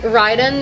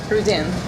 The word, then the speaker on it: Rydén: We have Ryden, am I pronouncing it right? Yeah, it's like Ryden in English, but in Swedish it's Ryden. Ryden.